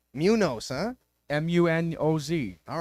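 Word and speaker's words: Muñoz: knows in fifth game you say you say it like Ryan Moore did Munos it's not Munos Munoz come on are you serious Munoz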